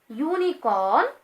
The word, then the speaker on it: unicorn: So here unicorn is pronouncing like Y. As you know, Y is the consonant, so that we have added A here.